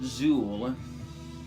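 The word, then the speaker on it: Zeuhl: I know some folks pronounce it Zool, but I think that it is supposed to be pronounced Zoil.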